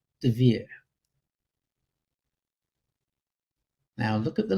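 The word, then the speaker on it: דביר: It's this, and it's pronounced Devere.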